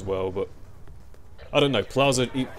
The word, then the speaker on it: Plaza: Is that how you say it? Plaza. My housemates kept criticizing me cuz I called it platza, which I thought was how you said it.